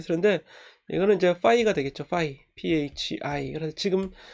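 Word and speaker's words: φ: 파이, phi. 그래서 지금 이 파이는 얘를 얘기하는 거예요. 요거는 이제 p 발음으로 파이가 되고, 얘는 F 발음으로 파이 이렇게 이제 발음을 하면 되겠습니다.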